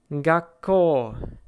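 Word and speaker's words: がっこう: The pronunciation again is kakkoi, kakkoi. Zettai, zettai. Gakko, gakko. You basically pause on the first consonant and then continue with the second.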